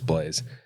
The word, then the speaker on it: Blaise: Yeah, it is Blaise. It is? Yeah, and that's a cool name, by the way. It is a cool name. It's not spelled like English Blaze, like fast, but it sounds the same.